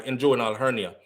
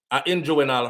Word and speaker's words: inguinal: That was my inguinal surgery for my inguinal hernia. Somebody said yesterday, that's not how you pronounce it, SouFLo. And them I try to spell it for me the right way. Listen to me. Inguinal hernia.